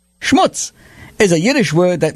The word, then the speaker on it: schmutz: like to talk about schmutz schmutz is a Yiddish word that means dirt d u RT or grime properly pronounced it should rhyme with puts and cuts it sometimes spelled schmutz